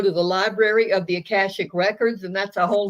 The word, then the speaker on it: Akashic: How you pronounce it? Sorry, Akashic, called the Akashic.